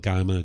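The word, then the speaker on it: kamma: the same natural law, just karma and Gama, just 2 different ways of pronouncing this.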